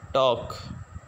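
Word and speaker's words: talk: इसी तरह हमारे पास लास्ट वर्ड है टी ए एल के, टी ए एल के जो है ये इसको टालक नहीं पढ़ेंगे, बल्कि इसकी जो करेक्ट प्रोनाउंसिएशन है वो है टॉक, टॉक।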